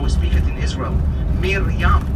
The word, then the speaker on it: Miriam: Miriam.